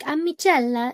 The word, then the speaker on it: Amiccella: platform under Amiccella, but I know it sounds like a ch sound, but there's no H. It's 2 C's and 2 L's. So think of like an Italian when you say my name, like Amiccella, it's like that.